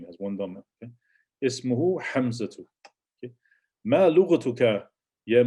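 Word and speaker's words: اسمه: Ismuhu. And notice we pronounce the alif because it's not. We don't have nothing in front of it to make it hamza to wasl. So you pronounce the hamza. Ismuhu.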